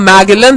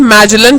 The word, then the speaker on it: Magellan: So in 1519 a Portuguese sailor named Magellan, यानी 1519 में एक पोर्चुगीज सेलर जिसका नाम मैगेलन था, लेकिन उसे प्रोनाउंस मैजेलन किया जाता है, उन्होंने अपना शिप जर्नी स्टार्ट किया स्पेन से अलोंग विथ अदर सेलर्स।